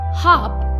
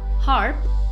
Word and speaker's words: harp: was an edge after C so the correct pronunciation of the word is cello harp is a large wooden musical instrument with many strings that you can play with the fingers it is often mistakenly pronounced as her please remember you emphasize on the air here